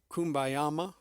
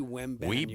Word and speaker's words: Wembanyama: Just as a refresher, it's not Wembanyama. It's not Kumbayama or Wembanyama. I mean, it is is simply Wembanyama. Wembanyama. Victor Wembanyama. Wembanyama.